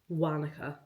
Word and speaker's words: Wānaka: I thought originally it was Wānaka, but it's Wānaka, I believe.